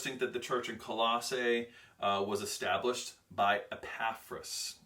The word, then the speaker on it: Colossae: letters let's talk about Colossae that's how you pronounce it Colossae this is why it's called Colossians because it's